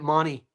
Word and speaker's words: Mahoney: Isn't it crazy that the Aussies pronounce it money? It It It drives me freaking insane. The Aussies pronounce Mahoney, they pronounce it money.